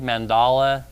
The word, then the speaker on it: mandala: How do you say the word mandala? Because some people say mandala, I don't know, but the website said mandala, so that's what we're going with today. So what is a mandala?